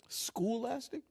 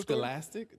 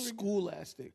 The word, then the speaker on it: Scholastic: I bought the Remember the Scholastic? Remember the the Scholastic where you could buy books in school? Scholastic. What I said? Schoolic.